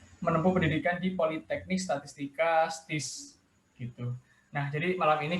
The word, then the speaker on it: STIS: Untuk Politeknik Statistika STIS, kalau anak STIS itu bacanya STIS, Oh, siap, bukan siap. STIS.